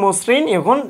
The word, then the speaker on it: মসৃণ: তাহলে মর সঙ্গে আমরা ওকার যুক্ত করে দিয়েছি, ম ওকারে মো, তারপর বাকিটুকু ঠিকভাবে মসৃণ।